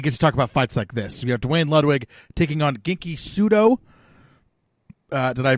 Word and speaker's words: Genki Sudo: We have Dwayne Ludwig taking on Genki Sudo. Did I pronounce that right, or even close? Yeah, Genki Sudo.